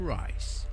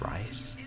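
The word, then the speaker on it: Rhys: So is that how that name is pronounced? R-H-Y-S is Rice? I hadn't heard it like that.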